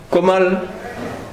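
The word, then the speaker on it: कोमल: Kamal, you got Kamal, Komal, Komal. Depends the pronunciation.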